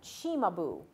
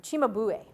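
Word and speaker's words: Cimabue: will move to, this artist's name is properly pronounced Chimabu, or Chimabue. It means bull's head. I don't know what he looked like. Perhaps he had a head shaped like a bull. I don't know, but Chimabue is the last artist we'll talk about in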